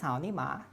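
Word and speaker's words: 草泥马: llama looks like an alpaca llama and it's pronounced sauni ma but if you speak chinese you'll know that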